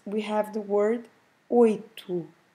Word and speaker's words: oito: You see that the word ends with an O, but every time in Portuguese, every time we have a O at the end of a word, the right pronunciation is U.